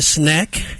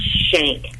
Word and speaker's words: Schenck: And I want to welcome Miss Sneck, and she's joining us from Atlanta via the telephone. Hello. Hey there, Carl. And, I know my name is so complicated. It's actually pronounced Shank, Shank.